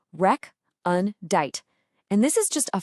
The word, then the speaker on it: recondite: Okay, our first word is recondite. You say it like rec-un-dite.